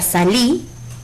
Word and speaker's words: salí: La palabra salí es una palabra de 2 sílabas que tiene su sílaba tónica en la última sílaba, por lo que es